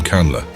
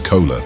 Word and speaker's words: Kunle: One glaring issue I noticed with this character is how frequently his name, Kunle, is mispronounced as Kola by half of the actors in the movie.